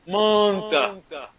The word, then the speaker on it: Manta: Manta. Nous on prononce M-A-N-T.